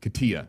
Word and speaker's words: Katia: How do you pronounce that one, you guys? Help me. I believe it's Katia. Yep. Katia.